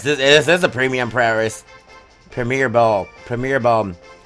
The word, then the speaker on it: Premier: Premier Ball Premier bom I remember how I used to call it the primier ball all the time back in the days uh it's a good thing I learn how to say it properly now oh my God